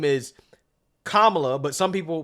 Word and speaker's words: Kamala: again the way you pronounce her name is commala but some people pronounce it Kamala now I'm not entirely sure how that is